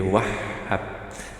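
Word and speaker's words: الوهاب: Al-Wahhab. Nah, gitu ya bacanya ya. Jadi Wahhab, ada tasjid di sini.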